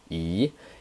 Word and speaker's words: 一: 一, this character is a polyphone, and here obviously you can hear I'm pronouncing the second tone, which is 一, 一, 一. I didn't say 一, the flat tone, right?